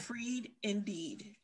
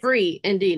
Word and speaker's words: Free Indeed: d e e d one dot com okay freed indeed say that one more time second one free indeed not freed no d on that free free